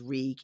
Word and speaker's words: Reek: uh the whole like my name is reek it rhymes with leak and then later it's